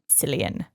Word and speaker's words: Cillian: I always forget how to pronounce it, if it's Killian or Cillian. Cillian.